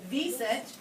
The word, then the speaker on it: wisent: This is a wild boar, a moose, and this looks like it starts with a W, but it's pronounced a wisent.